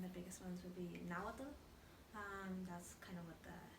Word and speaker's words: Nahuatl: How you pronounce it? Nahuatl? Nawa? Yeah. Nawa.